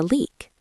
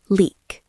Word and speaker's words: leak: We can say, there is a leak. Or we can use it as a verb. The pipe is leaking. Let's practice the pronunciation. It has a long E sound, like C or T. Leak.